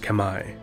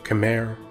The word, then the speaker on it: Khmer: fabulously wealthy and powerful kemmer empire also known as the angkor empire was based out of the territory which is now modern-day cambodia the kemmer correctly pronounced kamae or khmer or cameron english are